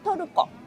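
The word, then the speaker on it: トルコ: Toruko. Toroko.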